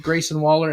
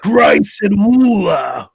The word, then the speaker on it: Grayson Waller: off against or defeated Grayson Waller and Tiffany Stratton. Probably the match of the night. Good stuff. You said his name wrong. You gotta say Grayson Waller. You gotta say it like that.